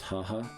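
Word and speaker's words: はは: also means mother and it is pronounced haha in Japanese which I just think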